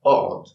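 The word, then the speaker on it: اقعد: So the alif in the imperative will be with dhamma also. So yu'ad, a'ad, a'ad. Of course, the qaf will be like but it will almost be silent in this verb, like a'ad, a'ad, sit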